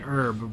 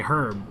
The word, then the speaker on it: herb: pronunciations like you know in America you say Erb but in like England and stuff you would say herb so depending upon where you are no way is really more correct than the other